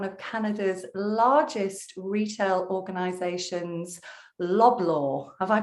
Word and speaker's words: Loblaw: VP of one of Canada's largest retail organizations, Loblaw. Have I pronounced that one correctly? Yeah, it's Loblaw Companies Limited.